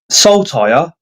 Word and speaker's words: Saltire: My name always gets mispronounced. I say it like Saltire.